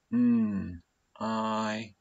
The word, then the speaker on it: knight: Night. Night. It's funny that one because the k is silent. The kicking k is actually silent. It's shh. We don't actually say that one.